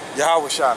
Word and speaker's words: YAHAWASHI: That's how you pronounce his name in Hebrew. Okay? YAHAWASHI, man.